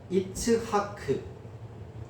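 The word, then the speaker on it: יִצְחָק: 보통 이삭이라는 그 철자는 이츠하크 이츠 하크라는 발음으로 어 기록된 그 철자 이츠하크.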